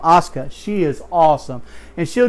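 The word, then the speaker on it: Asuka: sauna versus Emma yeah I know I'm not pronouncing her name right but she is a great wrestler I'm not a big fan of women wrestling but she is Oscar that's how you pronounce her name Oscar she is awesome and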